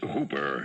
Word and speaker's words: Houper: The name's Hooper, spelled Houper, but pronounced to rhyme with Cooper.